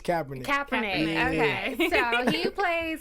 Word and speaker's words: Kaepernick: get right into it let's do it Colin Kaepernick is that how you say it Kaepernick I'm